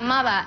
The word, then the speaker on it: Mauer: Y esto es Mauer, que se pronuncia Mava en alemán porque significa muro.